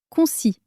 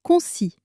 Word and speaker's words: concis: Faisons attention à la prononciation car elle change selon le genre au masculin concis. Le s final est muet, on ne l'entend pas. Répète après moi un message concis au féminin.